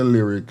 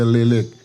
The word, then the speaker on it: Lyric: She don't say lyric, she say lilik.